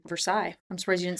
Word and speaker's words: Versailles: I'm surprised you knew how to say Versailles. I'm surprised you didn't say Versales. Uh I think in in Missouri we do pronounce it Versailles.